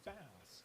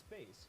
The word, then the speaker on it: Bass: throughout Mega Man 8 in the game they pronounce it as bass like the fish however it's meant to be as bass since he and treble both of their names coming from bass and treble musical class number 53